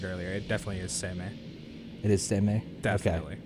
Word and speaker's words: Seimei: It definitely is Seimei. It is Seimei? Definitely. Okay. Looking at how that's spelled.